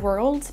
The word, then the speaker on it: world: Attention, on ne dit pas world avec un O prononcé à la française. C'est trompeur, même si on a un O dans le mot world, il faut le prononcer quasiment comme un E. World, world.